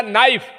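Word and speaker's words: knife: जैसे हम इंग्लिश पढ़ने जा रहे हैं और मास्टर ने कहा लिखो बेटा नाइफ। हमने पहले लिखा एन तो कहता है गधा पहले के होता है क्यों कनाई बोल रहे हैं क्या नहीं वो साइलेंट क्यों चुप क्यों क्यों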